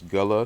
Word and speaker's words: Guale: out how would you pronounce g-u-a-l-e as gula so it's like goulet that's right right but it